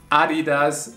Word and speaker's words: adidas: people that are actually really good at drawing adidas it is we also had this in one of the last episodes and in german it's adidas some people got mad because i said adidas